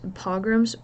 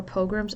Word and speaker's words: pogrom: the Czar's also organized pogroms or pogroms I've heard it pronounced both ways these are violent attacks